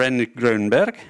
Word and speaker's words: Henrik Grönberg: Professor Henrik Grönberg, who is from the Karolinska Institute, Senior Consultant and Manager for Prostate Cancer Center, Capio San Göran.